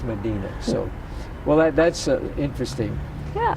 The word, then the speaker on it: Medina: But back in Ohio, we were uneducated about pronunciation, so we just said Medina, but out here it's Medina.